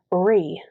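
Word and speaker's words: rí: But the word of the week this week is short, sweet, simple, and it's Ree, and it means king. And it's spelled R-I with a fodder over it.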